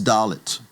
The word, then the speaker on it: Dalet: The fourth letter is Dalet, and Dalet gets the D sound, D, as in David.